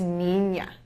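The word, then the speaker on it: niña: known as a finding it is pronounced like an ny sound nea and this can be seen in the word or girl or boy this is pronounced as Nina so this is n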